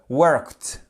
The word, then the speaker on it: worked: En fait, lorsque vous avez un son qui ressemble à ce, che, que, là, vous allez prononcer comme te. Worked, OK?